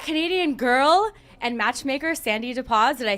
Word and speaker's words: Dapoz: up we've got Canadian girl and matchmaker sandy deposit I say it right oh absolutely because sometimes